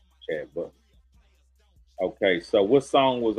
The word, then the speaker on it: Chad Butler: Chad Butler. Brad Cutler. It rhymes with Brad Cutler. Chad Butler.